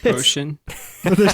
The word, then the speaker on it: Otion: All right, that's supposed to be like lotion, but there's no L. So Ocean.